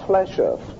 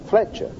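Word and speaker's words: Fléchère: His name is spelled F-L-E-C-H apostrophe E-R Fletcher. Fletcher.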